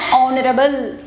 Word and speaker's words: honorable: So here children we have to be used here and honorable. Next here also H is silent here.